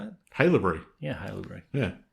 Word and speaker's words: Haileybury: Haileybury.